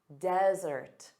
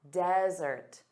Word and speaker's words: desert: So one as dry aid land desert. Desert. So notice the syllable stress is on the first sound.